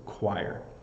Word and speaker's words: choir: that sing uh and the pronunciation is chir so choir I think this is hard to pronounce because of um both the CH and the O IR R make different sounds in this word than they normally would so choir I think